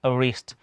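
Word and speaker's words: wrist: ऐसे ही डब्ल्यू आर आई एस टी रीस्ट। ठीक है? इसको क्या पढ़ते हैं? रीस्ट पढ़ते हैं।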